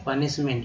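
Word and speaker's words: punishment: सजा, पनिशमेंट, ठीक है, पनिशमेंट, ENT को एंट बोलते हैं, PU का उच्चारण यहाँ पर अ के रूप में किया गया है, तो प हो गया, निशमेंट, सजावट, डेकोरेशन, देखिए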